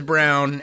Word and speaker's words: Braun: I was like, well, this is spelled Braun, but he says Brown, and he's really awful.